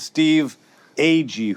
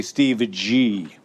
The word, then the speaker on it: Steve Agee: And I'm James Gun, and I'm joined every episode by my co-host, Jennifer Holland and Steve Ag, who some people say Steve G. Wrong pronunciation.